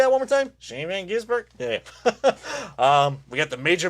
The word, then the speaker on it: Shane Van Gisbergen: Shane Van Gisbergen?